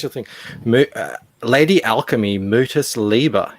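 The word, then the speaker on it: Mutus Liber: thing uh lady alchemy mootis lieber is that how you pronounce that yeah mutaslieber it's latin for um the mute book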